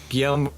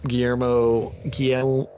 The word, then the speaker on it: Guillermo: too someone brought up a good point where guillerm Guillermo damn it yeah Guillermo thanks I'm really bad at pronouncing today my bad um